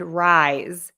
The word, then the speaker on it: rise: is um rice and Rise so rice the food has an S sound at the end rise to go up